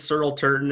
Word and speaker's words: Searle Turton: so my name is searle turton and so it's kind of like earl with an s so it's a bit